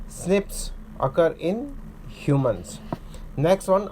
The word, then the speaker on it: SNP: single based DNA differences snps single nucleotide polymorphism pronounced as Snips occur in humans next